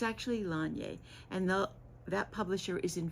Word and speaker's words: Laine: I say laine because that's the French pronunciation for wool, but it's actually Lanye.